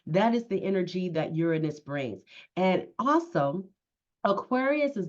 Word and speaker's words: Uranus: energetic electrifying planet of Uranus or Uranus. It's all about how you pronounce it. But for from this point on, you'll be hearing me say, as I've often said before, is Uranus.